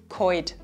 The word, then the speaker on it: kalt: Something special happens here in our dialect, namely we vocalize the "l". "l" becomes an "oi". This also happens, for example, with "sollen" which becomes "soin" or "kalt" which becomes "koid".